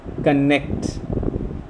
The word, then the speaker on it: connect: Similarly, words start ending with ct, connect, inject. So we find the second syllable of these words to be stressed.